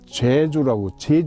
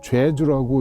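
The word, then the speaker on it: 좨주: 봤더니 자한대부 원임 이조 판서 겸 성균관 제주라고 안 읽고 죄주라고 읽습니다.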